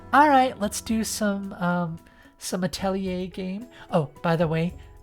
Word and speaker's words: Atelier: He'll usually be like, alright, let's do some Atelier game. Oh, by the way, Bun Bun loves it when you pronounce Atelier Atelier.